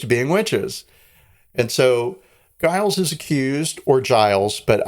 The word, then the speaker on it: Giles: people were accused of being witches and so Guiles is accused or Giles but I I pronounce it Guiles and um the court says to him hey